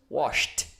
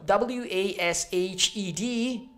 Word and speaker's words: washed: verb wash which is washed so not wash it not wash it not washed but with a final T sound okay forget about the